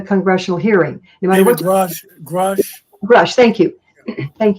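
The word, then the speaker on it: Grusch: forward in the Congressional hearing no matter what grush grush grush thank you thank you when he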